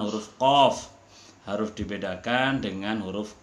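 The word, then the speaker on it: ق: Di antaranya adalah pengucapan huruf Qaf harus dibedakan dengan huruf Kaf. Qaf itu dari tenggorokan, dari sini. Sedangkan Kaf itu dari atas sebelum masuk, atau kerongkongan yang paling dekat.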